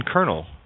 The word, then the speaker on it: colonel: O is silent in colonel.